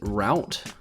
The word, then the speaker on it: route: Second word is route. That's how I pronounce it. You can say root and route.